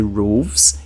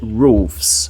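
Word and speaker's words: roofs: adicionar o s tá não vou dizer roves eu vou dizer rofes Ok Isso isso tem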